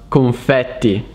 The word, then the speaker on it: confetti: the word confetti confetti in italian so it's pronounced confetti which is the plural of the word confetto